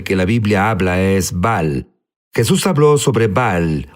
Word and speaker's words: Baal: la Biblia habla es Val Jesús habló sobre Val unos dicen baal baal es la pronunciación correcta correcto pero sabes qué es